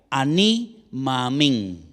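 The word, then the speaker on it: אני מאמין: 2 palabras en hebreo que se pronuncian de la siguiente manera: ani, ma'amín.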